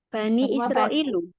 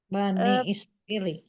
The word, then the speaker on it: Bani Israili: Tapi kalau misalnya enggak ada yanya, Ustazah, jadi jadinya apa? Bani Israil. I. Iya, benar, Ibu. Bani Israili. Bani apa, Ustazah? Yang benar Bani Israili, Bu.